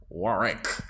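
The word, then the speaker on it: Warrick: Child, let's talk about, Dionne, Miss Warwick, or Warwick, as your actual last name is. It's spelled with 2 R's, not an R and a W.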